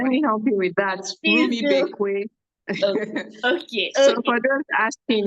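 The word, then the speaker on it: Rumuibekwe: Permit me if I did not get the pronunciation. Let me help you with that. Rumi Bekwe.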